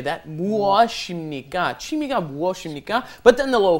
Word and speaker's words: 취미: 취미가 Almost want to think of it as saying, it's not exactly, but slightly, CHW.